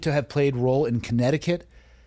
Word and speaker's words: Connecticut: ChatGPT believed to have played role in Connecticut, which is also sometimes said Connecticut. That's how you can remember how to spell it.